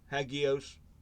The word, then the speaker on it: hagios: Let me make sure I'm getting the right pronunciation on this word. 28A. Huh? 28A. You get the trusty old Right. power sword. Hagios.